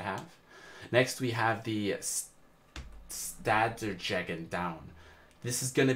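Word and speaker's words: Stadtjäger: Stadtjager. Stadtjager.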